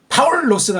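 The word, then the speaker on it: Παῦλος: 람다가 나오면 앞에 리을자 하나를 더 붙여주는 거예요. 그렇죠? 그래서 파우가 아니고 파울. 그 리을자 받침은 부드럽게 빨랑 처리해주고 본 발음에서 리을자를 뚜렷하게 강력하게 해줘야 돼. 파울로스가 아니고 파울로스.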